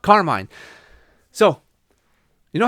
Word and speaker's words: Carmine: Or Carmen, however you want to pronounce it, but Carmine.